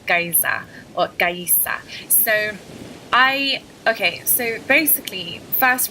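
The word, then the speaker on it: Gaïa: So I would say stick to the actual correct pronunciation, how it's supposed to be pronounced in Italian, which is Gaïsa. So like I said, if you were to pronounce it in the French way, it would be Gaïsa, but it's not a French word.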